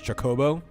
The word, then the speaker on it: Chocobo: before you got here about Chocobo versus chobo a lot of people say chobo i' I've never heard